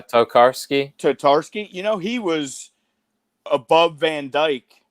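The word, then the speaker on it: Tarkowski: Towarski? Is that how you pronounce it? Oh, yeah, Tokarski.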